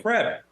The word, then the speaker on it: crepe: I called it Crep. And someone, a Pumanati, reached out to me and said that Crep is the a proper pronunciation of that word.